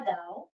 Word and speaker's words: Dao: Il y a un premier mot qui s'écrit donc comme ça, Jia Dao. Donc, Jia, ça se prononce comme ça s'écrit, Jia, Dao ou Tao. En anglais, on dit Dao, donc Tao, Dao.